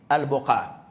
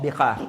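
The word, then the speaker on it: البقاع: other wording mentioned Shar al-Buqa or Biqa, depending on both words can be pronounced that way, Biqa wal Buqa.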